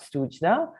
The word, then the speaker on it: Srujna: you know learn a little bit more about sujna and uh what was the impetus for this project also if i'm mispronouncing it please correct me now no no